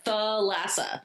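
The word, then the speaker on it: Thalassa: Theassa.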